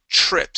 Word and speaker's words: trips: So give me a CHR sound there at the beginning. Trips. That's it. Yeah, good. Much better. Yeah, if you try to pronounce that T and the R together, it's harder to make that R sound right. Okay, but if you pronounce a CH, okay, trips, and then the R, it sounds awesome.